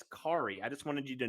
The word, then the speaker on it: Khari: tell you Derek that the H is silent so it's not kakari it's Corey I just wanted you